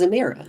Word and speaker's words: Zemira: canonically Holly's gonna say it wrong. It's Zemira.